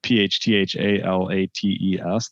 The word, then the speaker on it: phthalates: tell people that plastics are safe phthalates which is spelled p h t h a l a t e s phthalates it's okay they don't leach they play